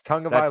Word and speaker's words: Tonga: It's Tonga.